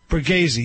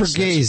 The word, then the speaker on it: Borghese: Prince Lorenzo Borghese. Am I pronouncing it right, Joey? Borghese, yes. Borghese. That's right.